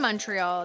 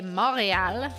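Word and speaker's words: Montréal: is from Mario Lopez Mariel is spelled Montreal with the tea but in in Montreal they say Mariel without a tea it's not Montreal don't ask me why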